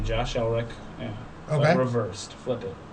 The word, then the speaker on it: Elrick: Yeah, it's Elric with a hard R.